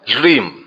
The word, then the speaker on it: ह्रीम: भगवती का जो मूल बीज है वह है ह्रीम, लेकिन बाद में इसमें र जोड़ा गया, यानी इसका आज के समय में शुद्ध उच्चारण जो होगा वो होगा ह्रीम।